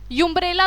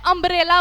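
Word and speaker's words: umbrella: ठीक है, अब मैं उसको अ से प्रोनाउंस कर रही हूँ इंस्टेड ऑफ यू। यूम्ब्रेला तो नहीं बोल रही ना, मैं अम्ब्रेला बोल रही हूँ, उसे अ से स्टार्ट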